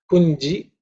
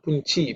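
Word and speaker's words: पुञ्जिष्टेभ्यो: In terms of pronunciation, punji in G, okay, it's not punchi because sometimes people may pronounce as chi, it's punji, punjish, ishta, ish again is the cerebral isha and ta.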